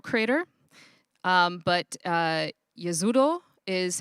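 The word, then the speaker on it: Jezero: also heard this called gizero crater um but yazuro is how it is supposed to be pronounced it's actually named after a town in bosnia so that is a bosnian word so as we look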